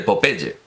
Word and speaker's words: Popeye: artículo los garbanzos de Popeye pronunciamos naturalmente como lo pronunciaría él a la española los garbanzos de Popeye publicado en arriba en